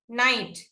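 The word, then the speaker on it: knight: కదా first letter ఏంటి first word ఏంటి నైట్ కె ఐ జి హెచ్ టి లో నైట్ ని మాత్రమే మనం పలుకుతున్నాము అవునా నైట్ ని మాత్రమే మనం పలుకుతున్నాం కాబట్టి కే అనే వర్డ్ ఇక్కడ సైలెంట్ అయిపోయింది వి ఆర్ నాట్ యూసింగ్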